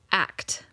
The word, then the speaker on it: ACT: therapy or for short ACT which is spelled just like how it's said ACC act or acceptance and commitment therapy.